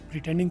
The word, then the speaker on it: pretending: प्रिटेंडिंग का P blast कर देगा। प्रिटेंडिंग, इसका TRE जो है यहाँ पर टोटली हज़फ कर देंगे। प्रिटेंडिंग, प्रिटेंडिंग, प्रिटेंडिंग, ये पी ब्लास्ट, ये टी ब्लास्ट, RE को साइलेंट, और प्रिटेंडिंग जी साइलेंट करना चाहें तो कर लें, बोलना चाहें तो बोलें। प्रिटेंडिंग या प्रिटेंडिंग दोनों तरह से ठीक है।